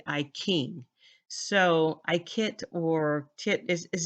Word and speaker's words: I Ching: I noticed that um in China they pronounce words ch with k a k sound like I Ching is not iting it's actually I King so I kit or